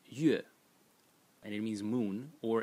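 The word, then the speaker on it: 月: And by the way, these two elements separately, this element is pronounced yue, and it means moon, or it can be pronounced ro, and it means meat.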